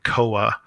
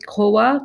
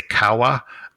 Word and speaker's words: Kowa: Um, I actually like to say kawa, uh, but I don't think it's how it's pronounced.